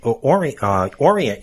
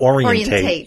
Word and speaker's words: orient: dizzy and you need to orient yourself, not orientate yourself, right?